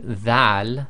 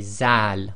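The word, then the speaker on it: ذال: A lot of countries, they pronounce this as a Z sound, so instead of saying dhal, they say zal, which is wrong.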